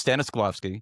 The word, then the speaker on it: Stanislavski: The Stanislavski method of understanding character motivation translate to audience personas and content strategy. It's everything. So, it's Stannislovski.